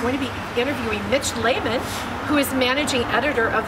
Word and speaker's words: Lehman: We're here with Mitch Lehman, managing editor. Pronounced properly, by the way, which often is not, but it's very good. Thank That's you right. very thank much. You. Lehman, not Mitch.